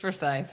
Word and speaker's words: Forsyth: East Forsyth, yeah.